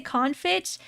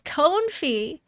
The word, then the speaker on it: confit: How can you be Canadian and can't say confitch? How do I pronounce the word? How to pronounce? It's confe. It's Confi. It's French.